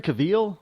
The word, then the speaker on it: Cavill: Was it Henry Cavill? Is that how you pronounce his last name? Yeah, he's like an also-ran.